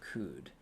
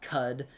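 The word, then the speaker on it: Qud: one in chat if you've played caves of code I know that it's pronounced cud but cud is way cooler so I'm calling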